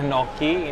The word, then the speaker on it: gnocchi: Ini namanya gnocchi, pronunciation-nya gnocchi.